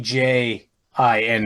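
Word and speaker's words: djinn: DJ J I N and not G I N. Yeah. I think it's still pronounced Jin though, isn't it?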